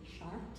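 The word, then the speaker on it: Chartres: this doesn't offend anybody the correct pronunciation is Shar and once again that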